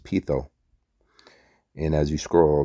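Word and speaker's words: πείθω: It's pronounced pitho.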